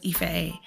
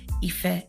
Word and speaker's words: Ife: me my name is Ife e um hence the name of the podcast itself maybe and um if you're having a hard time pronouncing that just think of effective um I feel like that's like my